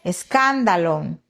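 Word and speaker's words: σκάνδαλον: Se dice escándalon. Escándalo. Fíjense, e esto es tremendo porque muchos, muchos usamos esta palabra escándalo, ¿verdad? En nuestro idioma escándalo, pero en griego es escándalón. escándalon, ¿verdad?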